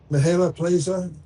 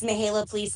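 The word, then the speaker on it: Mihaela Ploszaj: sure you can, Vice Chair of this group, Mihaela Plaza. Am I close, Mihaela? Thank you so much, Is that close to Senator.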